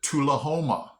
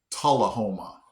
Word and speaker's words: Tullahoma: Okay, the next one, I would have pronounced it Tullahoma, but it's actually pronounced Tullahoma.